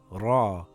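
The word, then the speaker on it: ر: Ra is sort of like the English letter R, but with a bit of a roll of the tongue. Ra.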